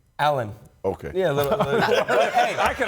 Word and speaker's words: Alen: Alen.